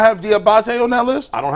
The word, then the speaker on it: Diabate: You have Anthony Walker Jr., JOK, Taki, Jordan Kanasic, Mama, I say his name wrong. Diabetes. Diabate.